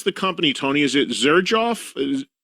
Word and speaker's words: Xerjoff: How do you pronounce the company, Tony? Is it Xerjoff? Xerjoff, yeah, that's right.